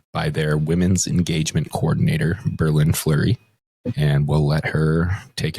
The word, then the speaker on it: BerLynn Fleury: Berlin, my name is pronounced Berlin Flurry, like like the city and like the hockey player.